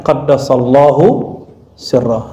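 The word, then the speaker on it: قدس الله سره: Jadi ini bedanya, kalau Imam Sufi kita bacanya qaddasallahu sirrah.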